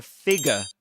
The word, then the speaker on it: figure: He spotted a figure. A figure. So this is a figure. Bigger. Figure. You don't say figure. A figure. But a figure. Figure. You don't pronounce that R sound or that R letter.